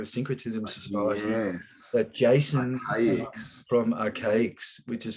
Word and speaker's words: Arcaix: on his show, Syncretism Society, that Jason from Archaics, which is spelled ARCAIX.